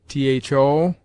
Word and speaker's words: though: In the middle and sometimes at the end it is quite silent, as though, right, sought. Spoken tho, rite, soute.